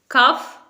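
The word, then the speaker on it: cough: कफ? Wrong, इसे हम कफ नहीं बोलेंगे, इसे हम बोलेंगे कॉफ, कॉफ।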